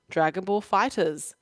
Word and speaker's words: Dragon Ball FighterZ: They actually said that the game, this is completely canon, that the game should be pronounced Dragon Ball FighterZ.